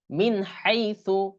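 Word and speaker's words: مِنْ حَيٍّ: হাই হা ইয়া জবর হাই পেশু মিন হাই তাহলে এখানেও মিনটা মিন উচ্চারণ হলো তাহলে মিন হাই নুনে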